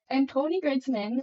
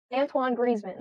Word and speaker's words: Antoine Griezmann: not talking okay okay Antony gridman retires from International Football I say his name right no it's Antoine Antoine griman I keep breaking up oh Antoine Griezmann did I break up